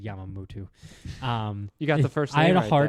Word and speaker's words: Yamamoto: I pronounced it's Yamamoto. I said Yamamoto.